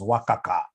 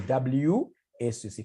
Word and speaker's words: WACC: There is somebody who pronounced this as Wakaka. No, it's supposed to be WACC.